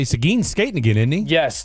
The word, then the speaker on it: Seguin: I say Seguin. I know a lot of people say Sagan. I mean, it's Seguin is literally the name of a high school. Literally how his name's said. So it's how it's spelled.